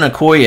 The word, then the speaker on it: Okoye: I pull this dude I pronounce his last name wrong Christian Okoye a 95 of 99 I got it right that time first time we've seen